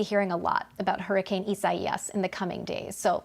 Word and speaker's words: Isaias: So Isaias is a Spanish name. So I know it looks like Isaias. We're getting a lot of comments. Why don't you just say it like that? It has come with a guide on how to say the name. We're trying to stick with it, and unfortunately, we're going